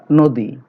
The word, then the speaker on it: নদী: এরপরে দেখো নদী, যদিও নর সাথে অ আছে, কিন্তু আমরা উচ্চারণ পাচ্ছি নো, ওকার দিয়ে পাচ্ছি, নদী।